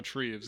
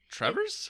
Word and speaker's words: Treves: And who did I tell you were mispronouncing the name of yesterday? Treves. Oh, Treves, yes. But that's also because I saw how it was spelled, and I was like, Trevor's?